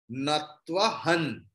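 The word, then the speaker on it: नत्वहं: See, ha, there is anuswara on the top of the ha, and afterwards ta is there, and in ta varga ta, tha, da, dha, na. So anuswara's pronunciation will be like na, natvahan.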